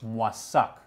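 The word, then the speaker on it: Moissac: family moved to the town in france of mwasak that's how i pronounce it yes what's up so in masak you mentioned responsibility they became members your parents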